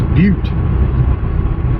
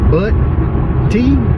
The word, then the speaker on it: Butte: It's Butte. It's spelled B-U-T-T-E.